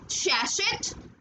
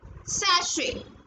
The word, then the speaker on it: sachet: Next one इज, it is sachet? No, it's sachet. Sachet.